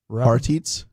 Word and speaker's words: Harteets: Okay, so our buddy Ian Harteets. The D is silent. He has Harteets.